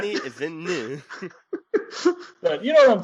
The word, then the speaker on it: Denis Villeneuve: I had to Google someone on YouTube how to say Denis Villeneuve because I wanted to say it like with the correct accent. Denis Villeneuve.